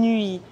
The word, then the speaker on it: nuit: Bonne nuit.